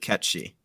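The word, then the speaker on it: Cait Sith: It's literally because it's like a Gaelic figure and they pronounce it catchy.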